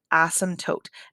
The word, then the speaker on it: asymptote: with 20-1 and so an asymptote and the p is silent an asymptote is a